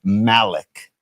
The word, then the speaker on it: Malik: Paulie, just because I'm a grammar hound and I'm a fan of the English language, I'm a fan of pronunciation. It's Malik.